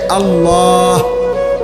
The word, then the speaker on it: আল্লাহ: বিশুদ্ধ উচ্চারণ হইতে হবে শেষে আল্লাহ শেষে একটা গোল হা আছে ছোট হা আল্লাহ মানে আল্লাহু তো